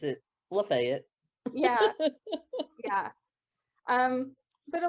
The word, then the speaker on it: Lafayette: them is uh lafayette spelled lafayette but we pronounce it lafayette yeah yeah um but a lot of that